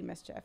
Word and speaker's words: MSCHF: This is the latest artistic concept released by Brooklyn-based collective MSCHF, known for its No, you can say it like that. That's mischief, though.